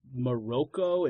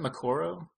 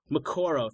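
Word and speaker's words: Moqorro: Red Priest it was it might have been uh moroko if that's how you say it the the big one that's a yeah I think it's isn't it makoro makoro thank you yes makoro I think there's a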